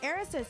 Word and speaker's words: Erisa: It's Erica, but replace the K with the S.